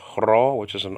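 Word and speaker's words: rho: Incidentally, the P looking letter ro, which is an R, actually heads up the word for Rome.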